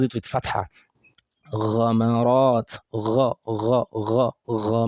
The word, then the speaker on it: غ: That is for ghain. Now, the common error that we have with it, number one, people pronouncing it like this, mug. Mug. G. They're pronouncing it like g. It's not g.